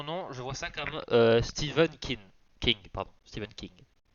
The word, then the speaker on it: Stephen: Ça se dit Steven.